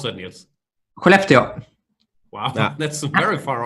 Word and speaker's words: Skellefteå: I'm being told that Skellefteå, how do you pronounce that, Nils? Skellefteå.